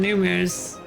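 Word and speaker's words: Nu Mou: It's spelled like n u m o, but it's numu.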